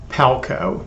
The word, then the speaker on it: Palko: Joel Palko. Did I pronounce that correctly?